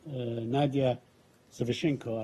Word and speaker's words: Nadia Savchenko: Nadia Savchenko, I believe Yes. that's the proper pronunciation.